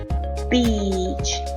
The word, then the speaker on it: beach: And if you mispronounce this long vowel sound and use the short E, you will say a bad word, which is bitch.